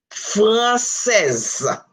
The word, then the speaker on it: Française: When S is between two vowels in French, it has the Z sound. Listen to this. Française. The E is silent, but the S, you will hear the sound, the preceding consonant.